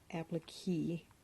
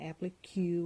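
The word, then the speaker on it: appliqué: I did look up how to pronounce applique, and it is not applique or K, it's applique.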